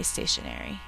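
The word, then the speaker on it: stationery: n e r y and you can see the matching errors in letter and station eri even though we say stationary so you can also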